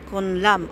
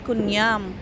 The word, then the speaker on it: Kun Iam: Sona, the laser, the marginal, the estatwa, the Kunlam. Ay, Kunlam. Ayan pala guys, ang hindi siya pero kung i-pronounce siya ay Kunyam.